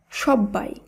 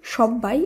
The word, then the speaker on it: সব্বাই: সঙ্গে কোনো বফলা যুক্ত থাকবে তখনও সেই শব্দের উচ্চারণ অপরিবর্তিত হবে। যেমন সব্বাই। লক্ষ্য করুন এই শব্দে রয়েছে ব এর সঙ্গে ব যুক্ত। শব্দটিকে যখন আমরা শুদ্ধভাবে উচ্চারণ করব সেখানেও কিন্তু শব্দটির উচ্চারণ সব্বাই এইভাবেই করতে হবে।